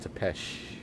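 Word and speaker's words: Țepeș: Yes, the Wallachia region of Romania was once home to the feudal lord Vlad Tepes. I believe it's pronounced Tepesh. Oh, Tepesh.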